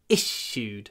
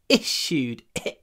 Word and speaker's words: issued: a verb my passport was issued in 2019 issued the stress is on the it but the it is clipped before the unvoiced shut so you get an issued issued try not to use your full voice